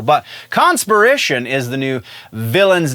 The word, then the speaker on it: Conspiration: in Spider-Man's book is conspiracy conspiration I'm sorry I keep wanting to say that differently and putting the emphasis on the wrong syllable but conspiration is the new villain's